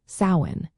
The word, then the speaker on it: Samhain: So the next time you mention sin, remember to pronounce it as sain.